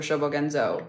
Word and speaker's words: Shobogenzo: was born so oh the Japanese book showbogenzo is spelled s-h-o-b-o-g-e-n-z-o shobogenzo the funny thing about shobogenzo is they